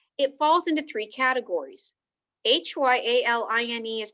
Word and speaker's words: hyaline: in our body it falls into three categories h-y-a-l-i-n-e is pronounced hyaline and this is the most common